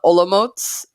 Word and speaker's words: Olomouc: Also, so that's from the Olomots is how it's pronounced. Olomouc, I always said it, but that's the alternative